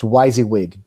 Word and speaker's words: WYSIWYG: It's pronounced WYSIWYG, W and all the letters.